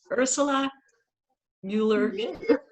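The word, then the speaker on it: Ursula Müller: grape wine review i'm here today with earth ursula mueller mueller did i get that right thank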